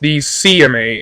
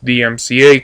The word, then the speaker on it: DMCA: I said Christians file false DMCA claims, which I mispronounced DCMA in my video, and said atheists tend to do the same thing. As many people have informed me, no atheists have filed false DMCA claims against Christians.